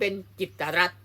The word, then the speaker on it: กิตติ์รัฐ: จะ ออก เสียง เป็น จิตรัตน์ นี้ คือ คำ อ่าน ชื่อ ของ ท่าน ผบ ตร คน ใหม่ ต้อง อ่าน ว่า จิต รั เท่า นั้น จึง จะ ถูก ต้อง ตาม ไวยากรณ์ ของ ภาษา